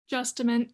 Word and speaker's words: Justament: Shelley, is it Justamont? I want to say it correctly. Justament. Justament. Okay.